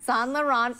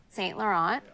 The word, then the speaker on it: Saint Laurent: say that to Lauren how do you say sell the Run Saint Laurent but I don't call Solo or whatever you said you said it you said it more friends I see I said it very French how do you say